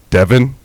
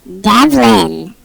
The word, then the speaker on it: Devlin: No, you're pronouncing my first name very incorrectly. It's Devlin.